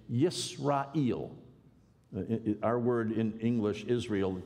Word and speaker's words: Israel: Well, in the middle of the second millennium BC, around 1500 BC, the way you would have said Israel is to say Yisrael.